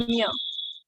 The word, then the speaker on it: Ania: Ania? How I can pronounce your name? Anya. Ania.